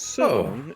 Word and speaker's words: Ceylon: It is pronounced Ceylon. It's actually a country in Sri Lanka. Oh yeah, Ceylon.